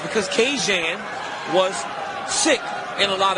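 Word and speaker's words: Kajan: Johnson this week his first name is to be pronounced Cajun so that super messy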